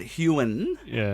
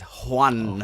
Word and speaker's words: Huon: I don't know, I've heard Huon, but then Alyssa likes to really rub in like the bad pronunciation. It says Juan.